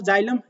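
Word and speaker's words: xylem: ऐसे आप स फॉर जाइलम basically x ए एल ए एम होता है जाइलम का आपके स्पेलिंग लेकिन जब होता है जेलम और जो आपका जल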